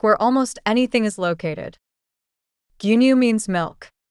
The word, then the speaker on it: 牛乳: Gyunyu means milk. Notice that it has stretched vowel sounds. Do not rush it. Say gyunyu. Even if the pronunciation is not perfect, the context inside a supermarket will help.